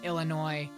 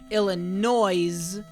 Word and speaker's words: Illinois: Okay, you thought I was pronouncing the S in Illinois.